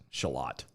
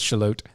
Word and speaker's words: Charlotte: Shallot. No, they say it in. I know, but it's spelled- actually certain people call it shallot. Yeah. It's shallot. Shallot, but it's Charlotte, North Carolina, on Monday.